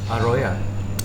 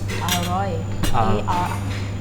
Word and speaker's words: อร่อย: อร่อยมาก How do you say sedap, like delicious, in delicious Thai? อร่อย Aroya. อร่อย A R O I the mark is very close อร่อยมาก Mak aroy.